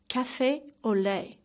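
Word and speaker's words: café au lait: second drink is cafe au lait ok let's pronounce after me cafe au lait by far it's my favorite authentic French drink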